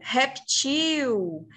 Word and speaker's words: reptil: A língua portuguesa aceita que a gente fale réptil como uma paroxítona ou reptil. Reptil não está errado, gente. Está enquadrado, é correto, dentro da língua portuguesa.